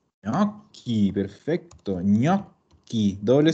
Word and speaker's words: gnocchi: Entonces, en italiano y en francés vamos a encontrar que la GN se pronuncia ñ.